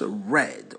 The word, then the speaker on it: read: livre est lu by au passé on prononce red au présent on